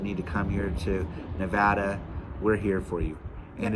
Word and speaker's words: Nevada: as favorable that need to come here to Nevada we're here for you and it is Nevada not Nevada I'll learn that eventually I still